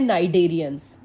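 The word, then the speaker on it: Cnidarians: इसको दूसरा नाम है नाइडेरियंस। सी इसमें साइलेंट है।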